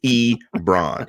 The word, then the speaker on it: Ebron: day yes I do e bran see I told you I'd be able to do that one again because it's like LeBron but with an e in front actually yeah